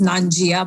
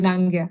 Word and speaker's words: Nangia: And the last name is Nangia, which most people pronounce as Nangia, but it's incorrect. So it's Nangia.